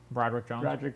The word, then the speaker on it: Broderick: Broderick Jones.